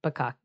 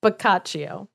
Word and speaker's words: Boccaccio: So yeah, Giovanni Straparola is not Giovanni Boccaccio. No, Boccaccio. Giovanni Boccaccio. Now I'm scared of just being like Bukkake.